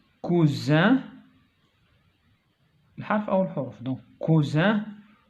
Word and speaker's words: cousin: donc cousin, coussin. donc la lettre qui change le son c'est S. Ici il y a une seule S. Cousin se prononce Z.